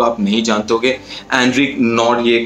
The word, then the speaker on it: Nortje: नहीं जानते होगे, एंड्रिक नॉर्डिये करके, NORTJE, शायद इसी तरीके से प्रोनाउंस किया जाता है उनके नाम को।